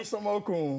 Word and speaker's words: Olusanmokun: That's actor Babs Olusanmokun. Am I saying it right? Olusanmokun.